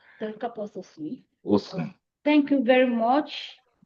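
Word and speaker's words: Pterocarpus osun: Is that pronunciation correct? Pterocarpus osum.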